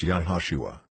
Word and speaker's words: Iesus: In this first edition, you will also actually find that Jesus' name is spelled Iesus and pronounced Yahushua.